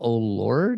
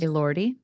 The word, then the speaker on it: Elordi: Jacob O'Lord. Is that how you pronounce his? Elordi. Elordi.